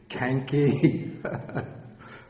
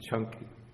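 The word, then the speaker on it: Caṅkī: You think it might be Canki. But the C in Pali is always pronounced like CH, like Ch in church.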